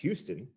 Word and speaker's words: Houston: In Texas, it's pronounced Houston, which is a city in Texas. In New York, the street is pronounced Houston.